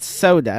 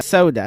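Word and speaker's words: Sauda: know how to pronounce Sada correctly is pronounced soda soda soda I'll still overall give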